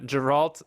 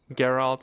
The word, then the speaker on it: Geralt: first song we will look at is uh giralt of rivia which is supposedly the main theme you do you want to pronounce that better than me it's carol geralt oh my god well you know i get